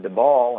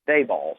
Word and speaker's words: Daboll: be corrected on that I was calling him the ball and somebody told me that it's b ball so with that well now we've already learned